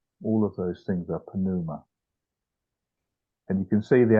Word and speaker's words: pneuma: I learned these things when you have uh consonants even when they go together like that you still pronounce the the two of them together so it's panuma not pneuma right uh and um